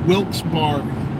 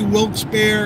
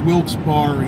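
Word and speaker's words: Wilkes-Barre: told to say it Wilks barie right that's we used to say wilk's bear and they said no it's wils Barry it's not like a bear you actually pronounce the E apparently beautiful up here well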